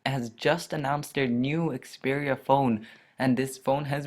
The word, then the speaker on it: Xperia: And what they're calling it is the Sony Xperia Sola, and that's pronounced Xperia. That's spelled Xperia and then Sola.